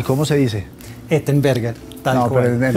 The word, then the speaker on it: Ettenberger: Ettenberger.